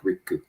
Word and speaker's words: Riku: So it's at Sensei, SENSEI _ Riku, RIKKU. So in Japanese, the syllables tend to be, the consonant sounds have a little vowel at the end, like Riku.